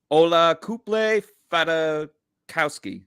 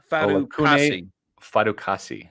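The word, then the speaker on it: Olakunle Fatukasi: Ola Kuple Fata Fatukowski. No, that's not it. Olakune Fatukasi.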